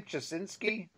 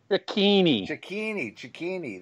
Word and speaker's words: Cicchini: As you said, Mark, how do you say his name? Chasinski? Cicchini, that's right.